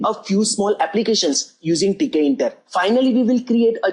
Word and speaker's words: Tkinter: You can pronounce it as Tkinter, but I used to pronounce it as Tkinter.